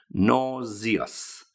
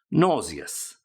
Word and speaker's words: nauseous: be nauseous and just be careful with the pronunciation of that word you'll see it appearing on the screen nauseous nauseous nauseous I feel nauseous I feel as if